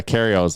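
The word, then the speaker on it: Kyrgios: Like Gregarios, or how do Nicholas, the Australian Karios. The G is silent. Yeah, Karios.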